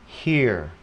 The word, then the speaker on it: here: Bây giờ mình thấy nó cũng có cái chữ viết giống như vậy nhưng nó sẽ không đọc là R nữa mà nó đọc là phần ear, ha? Here, here, here, ok, là nghe, nghe thấy.